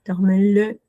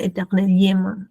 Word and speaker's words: éternellement: ¿No suena la L? ¿La No, L? la L no suena éternellement. ¿Sí? Suena como L. Acá suena como una L. Éternellement. Como si fuera una sola. Si bien se escribe con dos L, suena como una sola.